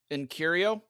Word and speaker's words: Uncurio: Uncurio? It's like Earn, and then Cure, and then Eo. Like Cheerio.